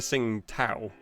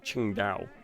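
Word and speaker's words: Tsingtao: it even though it looks like it's it's pronounced to sing tau it's actually pronounced qingdao because apparently their ts and their queues become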